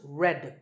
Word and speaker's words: read: Its past tense and past participle forms are spelled read but pronounced red like the color red.